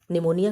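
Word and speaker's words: pneumonia: निमोनिया क्या है। निमोनिया की स्पेलिंग पी से शुरू होता है। पी साइलेंट होता है।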